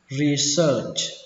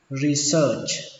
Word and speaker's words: research: Research. Âm ở đây là âm ơ, mặc dù nó ghi là e và a nhưng mà đọc là ơ. Research.